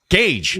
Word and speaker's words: Gage: It was, shout out to, I'm going to say it wrong. Gaggle 22. No, Gage. There we go. His name's Gage.